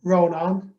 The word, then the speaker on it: Rónán: pleasure to be here my first name is pronounced ronan and the pronunciation guide i normally give people is that it rhymes with turn your phone on so that will hopefully